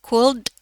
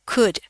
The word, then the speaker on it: could: L-nya dibuang jadi bukan dibaca could tapi dibacanya could.